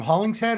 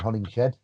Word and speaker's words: Hollingshead: does shed come from hollingshead or is it from an actual like it was because people were pronouncing my name wrong so my american friends were saying hunting shed so that's why yeah